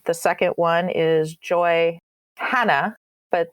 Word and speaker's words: Hannah: second one is joy hannah but they pronounce it silent h so joy anna as as they would